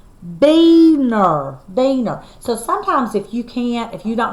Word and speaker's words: Weiner: Weiner is Carolyn Weiner's husband, and their last name is pronounced, oh my gosh, I've been saying it wrong, but I did the best I can. It's called Beaner.